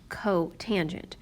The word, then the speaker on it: cotangent: This one is pronounced cosecant, this one is pronounced secant, and this one is pronounced cotangent.